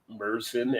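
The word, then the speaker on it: Märzen: But they're Merzen and not Marzen. I keep hearing people say Marzen is actually pronounced Merzen.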